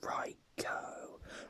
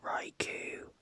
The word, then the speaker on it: Raikou: It's actually pronounced Raikou, but I used to pronounce it Raikou because I thought that's because K-O-U, I just pronounced it Ku, so Raikou, but apparently it's Ko.